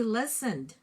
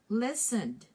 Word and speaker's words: listened: Okay, the ED has only D sound. So you say listened. Listened.